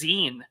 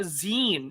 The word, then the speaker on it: zine: What the hell was zine? On episode 100. Oh, I don't. Zine. It's Zin. Zines.